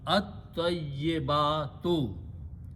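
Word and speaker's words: الطيبات: Al will do the same thing. We'll remove one pesh from here. And ta will become double and lam will go away. So you pronounce at-tayyibatu.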